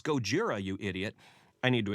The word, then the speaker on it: Gojira: and grumbling gojira it's gojira you idiot i need to explain myself there is no difference between the titles gojira and godzilla japanese is written using